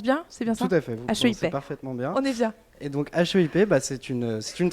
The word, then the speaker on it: HEIP: e I p déjà ce que je le prononce bien c'est bien et donc hip bah c'est une c'est une très vieille qui